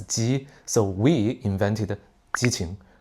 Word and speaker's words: 基: signifier gay, c'est parce qu'en cantonais, il se prononce "gei1". C'est comme ça que ça a commencé. Mais en mandarin, on le prononce "jī".